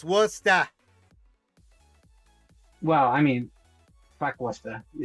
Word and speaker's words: Worcester: So, And it's pronounced Worcester.